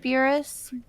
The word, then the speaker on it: tapir: like, Tapirus Bairdi?